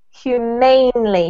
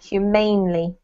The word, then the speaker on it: humanely: word here raphael is humanely so put the emphasis on the aim humanely humanely mainly correct yeah and then